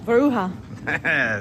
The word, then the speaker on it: Varoucha: How do you pronounce your name? What's up? VAROUCHA. See, told you I was saying it wrong.